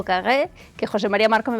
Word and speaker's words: Carrère: reino y el autor es Emmanuel Carré o Kagé, que José María Marco me va a ayudar a pronunciarlo perfectamente. ¿Qué tal, José María? Hola, ¿qué tal? Nuria, buenas. Muy bien, lo has pronunciado muy bien. Kager.